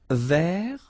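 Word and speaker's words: vert: Feminine Rouge remember rou ver so masculine form you don't pronounce the final T ver feminine form so listen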